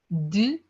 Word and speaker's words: deux: Okay, un, deux, deux, deux, trois. Three is pronounced as trois.